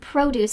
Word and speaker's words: produce: Notice that I said the word produce section. This just means where you can buy fruits and vegetables. But let's pay attention to the pronunciation of that word produce. The emphasis is at the beginning.